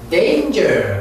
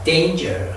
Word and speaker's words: danger: Family 이렇게 death 혀를 내고 death 죽음 danger 그렇게 말해 danger 그래야지 단거 하면 안 됩니다. 뭘 단거 단거는 danger 그렇게 말합니다.